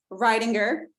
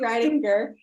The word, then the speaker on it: Riedinger: And then we also have Mandy here today, Riedinger. Did I say it right? Yes, Mandy Riedinger, who is stationed in Florida with List to Close.